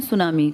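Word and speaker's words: tsunami: कर रहा हूं ना सुनामी जापानी भाषा का शब्द है जिसमें टी साइलेंट लिखते हैं ऐसे बोलते हैं। लिखते हैं टी सुनामी बोलते हैं सुनामी।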